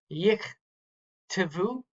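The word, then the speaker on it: יִכְתְּבוּ: this and you see two shavas in the middle, you kind of draw a line between them. The first shava is going to end that syllable and it's going to be silent. The second shava is the next syllable. It's going to be vocal, and it itself is its own syllable.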